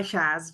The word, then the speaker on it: Shaz: your name for me Shaz sha I go by Shaz just because my full name is harder for English speaking people to uh pronounce my full name is